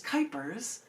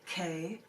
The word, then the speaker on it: Kuypers: Don't get Janet Jackson because my last name is Kuypers, rhymes with hyper, Kuypers, and you would be able to find a lot of them right there.